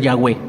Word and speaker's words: Yahweh: siendo sefaradita o eskenazita, la V se pronuncia como W, puede ser Yahweh, ¿sí?